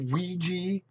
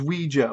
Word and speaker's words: Ouija: movie and you know instead of Ouiji you know Ouija oh it's Ouija oh I'm saying it wrong Ouija I don't [